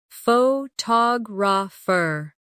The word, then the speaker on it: photographer: Repeat after me. Photograph. Now, photographer. Notice how the stress changes when the word becomes longer.